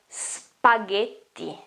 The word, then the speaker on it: spaghetti: Now, the GH here, the GHE here, it's a sound like this. Ge. Ge. It's not J, it's ge. And the double T here makes the sound longer and stronger.